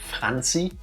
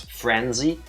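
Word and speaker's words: Franziska: Do you think it's a coincidence that most English speakers would mispronounce francy, which is the German way of saying it, as frenzy, which is also what she whips herself into?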